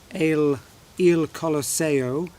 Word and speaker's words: Il Colosseo: Il Colosseo, I should say, if I'm going to pronounce it in the Italiano way.